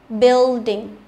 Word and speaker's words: building: Bill là IU rồi nhưng mà đây là chỉ có âm I thôi nhưng phải đọc là bill, building, không đọc là bill, nhớ chưa?